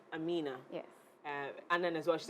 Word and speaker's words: Aminah: Because usually it's Aminah. But this one is Aminah.